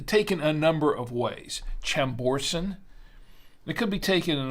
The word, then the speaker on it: Chambourcin: pronounce it but uh I think here in the states it's pronounced chamberson I believe so I've